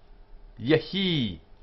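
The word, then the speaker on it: יְהִי: This is only a half vowel. Yehi. And so the word is a one-syllable word, yehi.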